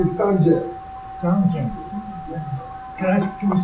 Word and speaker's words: Sanjay: My name is Sanjay. Sanjay. Can we spell that for me?